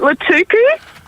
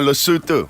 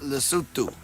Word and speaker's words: Lesotho: I had Is it Latuku? Hey? Was it Latuku? No, Lesotho. Lesotho. Ooh. Lockie's just throwing that in to try and trick Ash. But Yeah. He's done his... Lesotho.